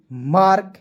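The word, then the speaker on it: mark: एम ए आर के मार्क वाई ए आर N yearn.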